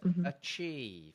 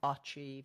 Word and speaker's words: achieve: So, which syllable is accented in that word? The second. Second. The first syllable. Is that a stressed syllable or a weak syllable? Weak. So, what's the vowel in that syllable? Isn't it? It's okay. So, it's achieve. It's not achieve. And it's certainly not achieve.